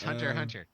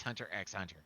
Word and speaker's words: Hunter x Hunter: have to emphasize yes i pronounce the god damn axe off it's hunter hunter i know for me it's hunter x hunter pun sand yeah we